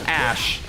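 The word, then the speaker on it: Æ: Archangel come and apparently the AE symbol is pronounced Ash supposedly I had never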